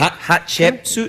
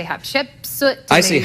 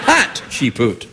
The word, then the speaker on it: Hatshepsut: good chip suit yeah cuz most people can't pronounce it they say h chip suit stumble over it that's that works too hat chut but you have to go with the hat you practice you actually